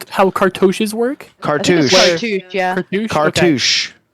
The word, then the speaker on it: cartouche: how, what I do not know how to pronounce it. I'm gonna say cartouche. How cartouches work.